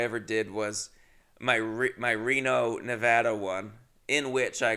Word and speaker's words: Nevada: Nevada. That's how you're supposed to pronounce it.